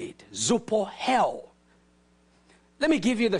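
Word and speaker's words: ζωοποιέω: The word quicken is the Greek word zoupohel. That's how they say it, zoupohel.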